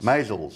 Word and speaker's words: Maisels: Now we're going to have lessons in how to pronounce my name for Phil. Maisels. No, Maisels. Maisels. Maisels. You are John Maisels.